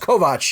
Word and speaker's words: Kovacs: But it looks like Kovacs, so spell it out that way. But it's pronounced Kovacs, you savages.